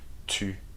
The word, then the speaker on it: tu: Tu is the U sound, so make sure you make a round with your lips, okay? And your tongue touches the back of your teeth. Tu.